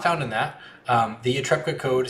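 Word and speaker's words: Ytepka: There are the laws of Port Nyanzaru, there are the laws of the Reclamation Guild, and then there's the Yatrepka Code.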